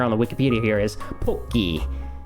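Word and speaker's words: ポッキー: the Wikipedia here is poki, right? Everybody's favorite treat. It is not called pocky, okay? That would be pa. You can see here we're using po, okay? Po, little tsu, ki, and nobasu. Nobasu means like it's another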